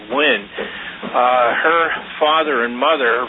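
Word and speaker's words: Nguyen: The other interesting thing is um CBS uh news broadcaster Betty actually it's it's no she pronounce it win.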